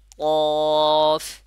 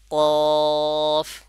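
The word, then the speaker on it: قاف: কিভাবে উচ্চারণ করতে হবে জিহ্বার গোড়াটাকে উপরে নরম তালুর সঙ্গে লাগাইলে আপনার উচ্চারণটা সঠিক হবে আর বলার সময় চার আলিফ পরিমাণ টানবো তাহলে সঠিক ভাবে উচ্চারণটা হবে যেমন কফ কফ আর আপনার ঠোঁটটা যে অবস্থায় আছে ওই অবস্থায় থাকবে এটাকে গোল আকৃতি করা যাবে না তাহলে আমরা কি জানলাম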